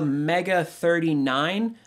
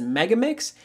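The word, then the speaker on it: MEGA39's: to go see this Hatsune Miku Project Diva mega 39 what apparently it is actually pronounced as mega mix is going to be coming to the Nintendo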